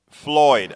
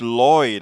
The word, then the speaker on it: Floyd: our live show and for George Floyd I didn't realize I was saying George Lloyd I'm so glad you